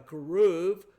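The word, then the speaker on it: כרוב: It uses, for instance, in the cherubim, a keruv. People frequently say a cherub, C-H-E-R-U-B. In Hebrew, that CH is pronounced as a hard K.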